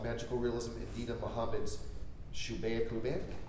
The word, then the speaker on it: Shubeik Lubeik: Wishing for Mental Health, Magical Realism, and Deena Mohamed's Shubeik Lubeik? Shubeik Lubeik. Shubeik Lubeik. Okay, thank you. I said that's how I said it. Okay, yes. Shubeik Lubeik, though it's an Egyptian novel, so I don't